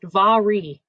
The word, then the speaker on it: Mhairi: It's called If I Never Met You, and her name is Mhairi McFarlane. Yeah, she says on the back of her book, her unnecessarily confusing name is pronounced Mhairi.